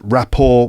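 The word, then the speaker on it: rapport: It is a French word and we sort of we pronounce it like a French word without the t.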